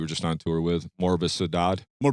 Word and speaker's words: Morbosidad: The band that you were just on tour with, Morvvis Sadad. Morbosidad.